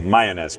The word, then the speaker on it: Mayones: Did I pronounce it correctly? Perfectly. Mayones, perfect.